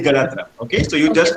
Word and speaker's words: Ganatra: pronounced my surname correctly. It's Ganatra. Okay, sir. It's Ganatra.